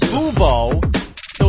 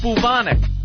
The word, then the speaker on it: bubonic: Bubo, so it's bubonic, not bubos. It's spelled B-U-B, though, right? Yes, it is spelled B-U-B, but unfortunately it's pronounced bubonic.